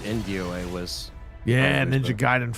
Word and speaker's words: Gaiden: pronounce it. It's Gaiden.